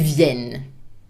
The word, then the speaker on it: viennent: vous venez, and ils viennent. So the I comes back and it's an open E sound. And of course, the final ENT in plural is never pronounced.